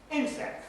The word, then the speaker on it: insect: Insect, first syllable stress.